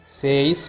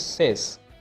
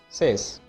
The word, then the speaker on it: says: Y අකුරක් මැද තිබුණට Y අකුර නිශ්ශබ්ද අකුරක් විදිහට තමයි සැලකෙන්නේ. says කියලා ශබ්ද කරන්නේ නැහැ. The correct pronunciation is says. Just say says, not says.